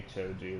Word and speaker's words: Choji: Choji would be Choji. There's not really a whole lot of... Why would you say Chojai?